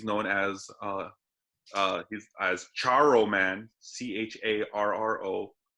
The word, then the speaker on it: Charro: And this guy, he's known he's as Charro Man, Charro. Don't mistake him for don't mispronounce and say Choro, because that's totally different. That's give you choro.